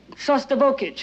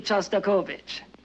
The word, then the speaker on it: Shostakovich: maybe we'd better be going we're hearing a sauce turbo kit you know that's Shostakovich and since you're a